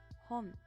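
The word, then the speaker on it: 本: This is pronounced as hon.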